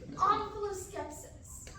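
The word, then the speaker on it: omphaloskepsis: Omphaloscepsis. Can that also be pronounced omphaloscepsis? It could. It would be wrong.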